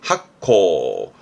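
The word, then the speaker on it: 発酵: 발효, 발음은 학코, 술을 발효하는 학코, 효소입니다.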